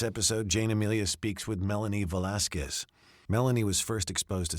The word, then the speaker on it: Melanie Velasquez: Yes, Melanie Velasquez.